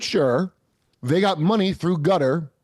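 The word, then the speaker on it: Qatar: they got money through gutter that's how he's pronounced qar by the way Gutter Gutter and to prevent and I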